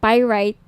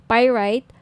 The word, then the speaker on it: pyrite: niyo ng bracelet ito ung pirate pirate Sorry pirate ung iba pronunciation pirate pyrite Okay 1,980 each may may kasamang freebies Andiyan